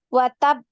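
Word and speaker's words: وَتَبَّ: watab, Lagi watab watab, dinaikkan kemudian ditahan dulu suaranya ukti baru dipantul. Watab sama ya, kalau kita wasol kan kita bacanya kan watab karena ada tasdid di ba. Watab gitu kan ya. Nah, sama juga di sukun begitu. Watab baru dipantul ya, di qalqalah.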